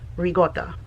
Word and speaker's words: ricotta: Rigotta is the way it's pronounced and even further slang. Again, my family said rigot.